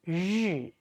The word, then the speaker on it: 日: Actually, just roll up your tip of the tongue a little bit and 日 just like the English, pleasure, that sound, yeah, that is